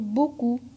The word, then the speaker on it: beaucoup: P muet, comme dans le mot beaucoup.